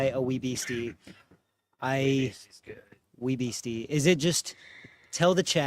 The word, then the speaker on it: Wee Beastie: I still prefer the Wee Beastie though.